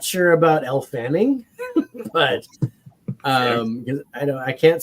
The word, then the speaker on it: Elle Fanning: She's still in talks, but is it Elle Fanning? Is that how you say it? Elle Fanning, yeah.